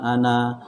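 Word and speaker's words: أنا: huruf asli, bukan tambahan, maka cara membacanya adalah tetap dibaca panjang. Ya, itu menurut pendapat para ulama itu ada sebagian ulama yang tetap membaca panjang, walaupun itu ada di dalam Al-Quran ana, ya.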